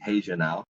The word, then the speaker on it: Regional: now spelled Regional Regional it's pronounced in Portuguese Haan now Haan now Capa and